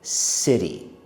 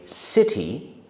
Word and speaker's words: city: There is the letter T in that word. But as an American, I say it like the letter D. I say city. Both are okay. You can say city or city.